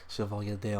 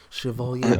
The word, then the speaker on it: Chevalier D'Eon: It's spelled like Chevalier. That's just smooth. Chevalier D'Eon. Sorry, some liquor. So. Chevalier D'Eon.